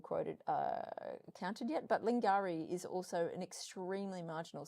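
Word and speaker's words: Lingiari: Lingari is how we pronounce it.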